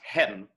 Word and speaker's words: heaven: us the hiccup and heaven in this case and often in shakespeare is an elision so it was probably pronounced hen right so we don't want to pronounce it that way today because it'll make our audience's ear jump out but it heaven scans to one syllable in most of shakespeare but again to his